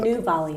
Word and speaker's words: Anu Valia: I'm speaking to Anu Valia. Is that how you pronounce it? Anu Valia.